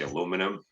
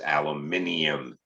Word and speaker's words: aluminium: We say aluminum, but everybody else says aluminium because there's an I there and it should be said, right?